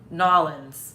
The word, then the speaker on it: New Orleans: they they live in new orleans okay new orleans new orleans no they told us before it was like nollens yeah i think that's how you say it i can't say